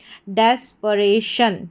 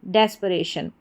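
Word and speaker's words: desperation: डेस्परेशन, डेस्परेशन, इस तरीके से। अब इसको डिस्पिरेशन पढ़ देंगे तो गलत हो जाएगा, डिस फिर पिरेशन, डिस्पिरेशन नहीं, तो इसका उच्चारण है, इसको पढ़ा जाएगा डेस्परेशन। डेस्परेशन का हिंदी अर्थ हो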